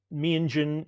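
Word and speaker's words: Meanjin: Menjen is um closer to the indigenous pronunciation.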